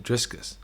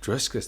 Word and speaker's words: Dricus: i thought to myself how do you get my name driskus like i can understand this like to pronounce it is harder for the american people but driscus there's no s and then we i